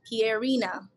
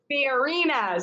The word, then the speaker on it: Pierina: Pierina? Pronounce it for me. It's like the French name Pierre. Pierina. Pierina.